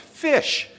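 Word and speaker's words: ghoti: It's pronounced fish. That's why the Deseret Alphabet was developed, because you have the GH, like enough, for fish. The I sound is in women, and the sh sound as in potion.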